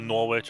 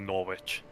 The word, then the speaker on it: Norwich: So, you just dropped the W.